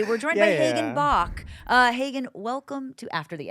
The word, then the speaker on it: Bach: Bach. It's like a chicken. Bach, Bach, Bach. I was going to say the famous composer. Oh, yeah. Some people say that. I say chicken.